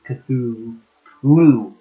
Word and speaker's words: Cthulhu: Yeah, it's not Cthulhu Lemon, it's Cthulhu with an H sounding. That last syllable gives H vibes.